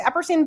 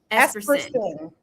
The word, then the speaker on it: Esperson: The name of the building, the Eperine building. Eperine building. Did I say it right? And did I say Esperson? The Esperson building.